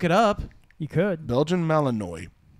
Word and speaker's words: Malinois: Melanoi. No. Melanoi? Is that how it's pronounced? Melanoma? No. Tim, you need melanoma. No, it's a... Malinois.